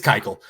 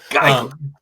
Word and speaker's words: Keuchel: I was totally mispronouncing that. I'm sorry. What'd you call it? I didn't remember. I don't know why. It's Keuchel. Keuchel.